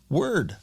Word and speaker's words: Wyrd: independent bookstore in Edgewater called word bookstore and it's spelled wyrd I just finished editing